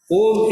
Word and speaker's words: Om: Om is supposed to have 3 syllables, A, U, Ma.